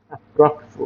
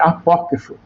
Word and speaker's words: apócrifo: Aprófo, ó. Aí, até errei pronúncia aqui. Eh, apócrifo. Ah, errei.